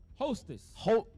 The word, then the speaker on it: Houthis: Houthis.